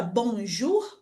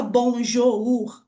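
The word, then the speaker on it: bonjour: Então, na palavra bonjur, por exemplo, a gente não fala bonjou, a gente fala direto bonjur.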